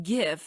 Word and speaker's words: gif: be insured of population the word gif is pronounced with a hard G like the word graphic failure to do so